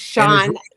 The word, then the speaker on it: Shonta: Shonta, How did you do that? I know. And it's Shonta.